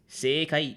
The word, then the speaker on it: 世界: Sekai is correct. Sekai is. Oh, okay, got it. You pronounced the e at sei.